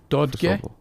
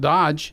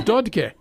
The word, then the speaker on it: Dotke: So remember now, Finnish, you pronounce accent on the first letter, right? First syllable. Dotke. D is that sound. O. And then you finish up with ge. Okay. You got to pronounce every letter. It's not Dodge. Right. It's Dotke.